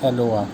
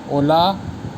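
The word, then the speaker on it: hola: अलावा क्या बोलते हैं हेलो आप वीडियो से योनी स्पेनिश में हेलो कैसे करेंगे तो उसे बोलेंगे होला अ कि उसे बोलेंगे ओला जेब साइलेंट रहेगा हाउ डिड ग्रेट मैन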